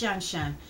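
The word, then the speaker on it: Tianshan: called fabulous shin shen i think it's pronounced shenshan fabulous t-i-a-n-s-h-a-n fabulous shenzhen shenzhen cute another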